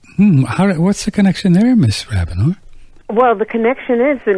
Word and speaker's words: Rabinor: Now let's up to New York, and we're going to talk with the interesting lady, Rabinor. Is it Rabinor? Yes, it is. You pronounced it absolutely perfectly.